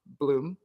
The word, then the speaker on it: Blum: really solid and durable bloom bloom pronounced Bloom don't say blood I usually say Blum I know to make